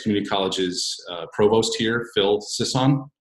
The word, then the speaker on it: Sisson: And I have Middlesex Community College's Provost here, Phil Sisson. Sisson, did I pronounce that correct, sir?